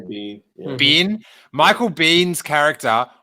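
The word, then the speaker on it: Biehn: Bean? Bean.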